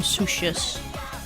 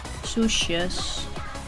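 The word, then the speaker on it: soesjes: can just call them sushis. Again, we just spell it like so. Fuck, can I please? Sushis. Again, the OE sound in Dutch is pronounced as oo.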